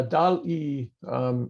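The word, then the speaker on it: DALL-E: Yeah, DAL-E, it's D-A-L-L, like wall, but spelled with a D.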